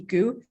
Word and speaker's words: Go: I know it's spelled GO, so that should be Goo, but Gary calls it a Go.